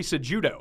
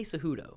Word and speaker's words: Cejudo: Well, the thing is, the J is pronounced like an H, but it's not. It's judo. See, I say Cejudo myself. You corrected me last time for saying Cejudo.